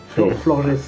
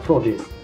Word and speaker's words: Florges: Florges. Je pense que c'est Florges pour le prononcer à la portugaise. Florges.